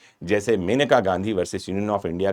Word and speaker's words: मेनका: अंग्रेजी वाले कहते हैं मननेका Gandhi. M ए एन ई के स्पेलिंग है तो वो अपने हिसाब से कहते हैं।